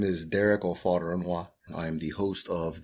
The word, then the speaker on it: Ofodirinwa: My name is Derick Ofodirinwa.